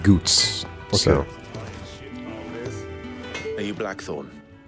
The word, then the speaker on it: Goetz: Clive said Goots.